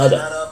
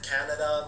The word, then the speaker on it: Kannada: I was told it's pronounced Kannada, but some people have said Canada.